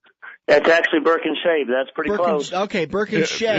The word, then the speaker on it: Birkinsha: That's actually Birkinsha. That's pretty close. Okay, Birkinsha. It was better than what I pronounced it the other day.